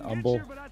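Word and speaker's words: Humble: uh it's over in Umble the H is silent people and uh yeah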